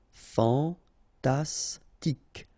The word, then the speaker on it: fantastique: Okay, Q-U-E at the end, K. Okay, tic. Fantastique. Fantastique.